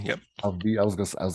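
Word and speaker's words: ALPHV: Alpha V.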